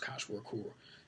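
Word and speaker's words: Kwashiorkor: Koch Work, if I always mispronounce that, but I think it's pronounced Koch Work, is a disease prevalent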